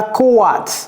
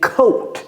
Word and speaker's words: coat: En anglais ce n'est pas kat, c'est coat.